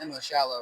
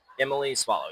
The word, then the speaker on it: Emily Swallow: And today um we actually have um Emily as you say it's pronounced Emily Shallow, right? Emily Swallow.